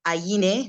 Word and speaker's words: Aini: oh uh thank you my name is aini that's the pronunciation it's a short form